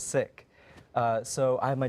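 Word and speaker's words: Sikh: play AEK or um the correct pronunciation is sick uh so I have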